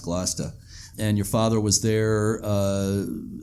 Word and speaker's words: Gloucester: which is the Annisquam Village is part of Gloucester, Massachusetts, or Gloucester, as properly pronounced. Yeah. Yeah. I'm from not far from there, so I know it's pronounced Gloucester.